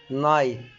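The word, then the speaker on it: night: الجي اتش تكتب ولا تنطق في منتصف ونهاية الكلمة، زي كلمة لايت، نايت، مايت.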